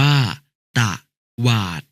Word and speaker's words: ตวาด: ตลก อ่าน ว่า ตะลก ตวาด อะ อ่าน ว่า ตะ หวาด น้อง ๆ ครับ เมื่อ